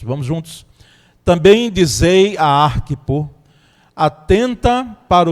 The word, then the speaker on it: Arquipo: eu tive foi essa: como se trata de um nome grego, de um nome gentílico, então a sílaba tônica vem na primeira sílaba. Então Arquipo talvez seja a pronúncia mais correta, não é?